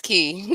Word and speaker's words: Ki: But why is it Kai? Am I saying it wrong? Because D Free said I'm saying it wrong. I don't know. You can't trust Free's a Puerto Rican. Is it Kai? How do you say it? It's Key.